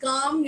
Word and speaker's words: calm: have to say please calm yourself down and i will write c-a-l-m so my l is silent i i will not pronounce this as column because of l so in english my